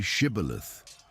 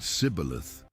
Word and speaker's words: shibboleth: When someone tried to cross, they asked, "Say shibboleth." The Ephraimites could not pronounce the "sh". They said "sibboleth".